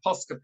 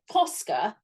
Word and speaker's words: Posca: across it oh I've got my favorite my posca pen which again I know people get better